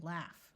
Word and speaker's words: laugh: the word ghost and there are a few words where G and H take on the sound of an F like in laugh when a word starts